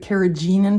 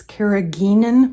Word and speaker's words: carrageenan: did on paper marbling i called it carrageenan powder alexa has since corrected me and said it's carrageenan powder with a hard g so there you go